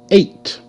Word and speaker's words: eight: Eight. A. T. A. T. Eight. E is silent.